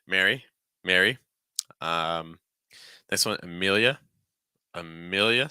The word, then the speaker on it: Amelia: next one Amelia Amelia so starting off with a schah sound uh then mill again like we saw on Max and Mill Mill dark l sound so say m more just Mill and then yeah yeah try to link it together can't yeah yeah yeah